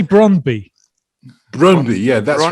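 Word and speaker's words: Brøndby: Brondby, yeah, that's Brondby.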